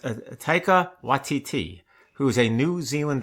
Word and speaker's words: Taika Waititi: It's pronounced Taika Waititi, who is a New Zealand director who has done Marvel movies, which means two things.